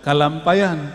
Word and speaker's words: Kalampayan: yang diajarkan oleh dulu datuk kalampayan ya benar bacanya gitu Syekh Maulana Muhammad Arsyad